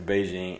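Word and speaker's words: Bigen: It's almost spelled like biggin. But yeah, that's the Beijing, and it's pretty effective to me, I think.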